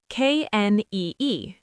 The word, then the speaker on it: knee: K N E E.